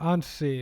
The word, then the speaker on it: Anssi: yeah that's right that's right yeah all right Ani um thank you very much for coming on did I pronounce your name correctly or how to say it uh and see it was fine all right okay thank you